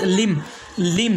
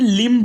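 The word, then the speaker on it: limb: यानी अगर एम के बाद बी आ जाए तो बी क्या रहेगा? साइलेंट रहेगा। जैसे पहला वर्ड्स लिम, दूसरा वर्ड है कॉम, तीसरा वर्ड है टॉम और चौथा वर्ड है बॉम्ब, इसके बाद में थम, उसके बाद में क्लाइम। यानी इसे हमें लिम्ब नहीं पढ़ना है, कॉम्ब नहीं पढ़ना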